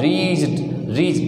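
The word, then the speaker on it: wretch: सा वर्ड आया है रीस W silent and research company निकृष्ट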